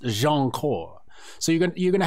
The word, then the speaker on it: Jianchor: to see the name and they're going to mispronounce it gn n chord and only a certain people are gonna know it's pronounced jean cor so you're gonna you're gonna have the people